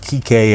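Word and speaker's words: Kiké: However, when they use his name, they've got the accent on the final E, so you can see it's pronounced Kike and it does not rhyme with bike.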